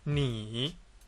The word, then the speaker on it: ni: Le pinyin de caractère ni et le pinyin ne, plus le pinyin i, ne yi, ensemble, ça se prononce ni.